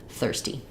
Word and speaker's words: thirsty: And then the word thirsty sounds like 30, but with a ST, thirsty.